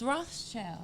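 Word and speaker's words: Rothschild: is it am i saying it right it's roth's child yeah okay ross child okay so you know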